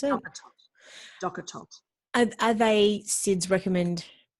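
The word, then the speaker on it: DockATot: How did you pronounce it? Docker tot.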